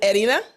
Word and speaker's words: Erina: pronouncing your name properly is it Edina Edina yes Edina excellent that's correct Edina perfect well Arena Arena